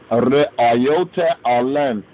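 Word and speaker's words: ርእዮተ ዓለም: The re'ayote, the re'ayote, the re'ayote, as we say re'ayote, but that's ignoring the pauses.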